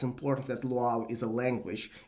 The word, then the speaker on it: Luau: of Lua, which is why it's important that Luau is a language.